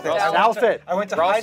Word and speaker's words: Douthat: On Cantor, the one moment that sticks out to me was the YG event with Duthot. Is that how you say it? No, it's Ross Douthat. Douthat.